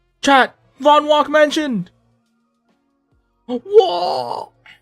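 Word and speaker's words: Vonwacq: Vonwalk mansion. Whoa. Vonwalk mansion. Woo. Actually, chat. Huge confirmation. That's how we pronounce it.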